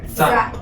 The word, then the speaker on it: 再: And this the pronunciation is Z. So we combine this now. Z, I. Zai.